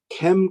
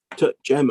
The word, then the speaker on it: Cem: Our next speaker is Kem Kozner. I'm sorry if I've pronounced your name wrongly. Is it Kem or? It's actually pronounced Cem. It's a Turkish name. Jem.